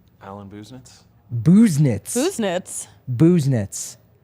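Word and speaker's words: Busenitz: that let's see what Alan's real last name pronunciation is Alan business Alan business booze knits who's knits booze knits like you know you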